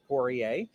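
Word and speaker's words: Poirier: can't pronounce it great the way most English people pronounce it is how I do which is porier but but if like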